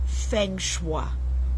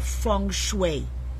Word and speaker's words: feng shui: Everyone today is into feng shui or feng shui. There are different ways you could pronounce that.